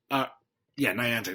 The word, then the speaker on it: Niantic: Niantic. That's how it's pronounced.